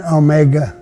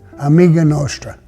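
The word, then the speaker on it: Amica Nostra: So it's not Omega, it's Amiga. Amiga Nostra. So that's the pronunciation of it, Amiga Nostra.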